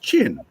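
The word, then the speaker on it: चीन: Sanskrit and they said that character is pronounced chin because that's what they used to call the people from China and they wrote it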